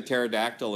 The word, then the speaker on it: pterodactyl: can't you hear the pterodactyl in the bathroom because the p is silent yeah he's he's six